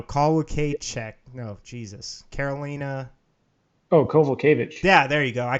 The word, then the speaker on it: Kowalkiewicz: Oh, Kowalkiewicz.